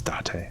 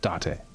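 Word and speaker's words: Date: ta da ok cool it's Dante I've been pronouncing it correctly Dante Kaname Dante member of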